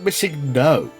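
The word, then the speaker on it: MissingNo: chat are asking about missing no no missing no will break the game I can't do missing no yeah how about missing no emphasis on the second part the third syllable if you will teacher you don't like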